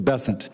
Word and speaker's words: Bessent: Cassidy um Mr bassant I'm always going to pronounce your name as if it was in south Louisiana and I'm going to pronounce it with a French bon as opposed to bessent that's what those folks in South Carolina do um I'll try let